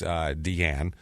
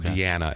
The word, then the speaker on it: Diane: Diane, who is pronounced Deanne, which is of course why, but it's spelled Diane or Diana. I'm sorry, it's Deanna is how you say it.